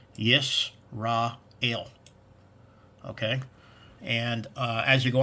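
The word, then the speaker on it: ישראל: For Israel, it's Yisrael.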